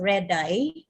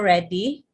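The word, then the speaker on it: Redi: francesco or francesco reddy others pronounce this as red eye or a guy but in italy uh it's francesco reddy he's an italian scientist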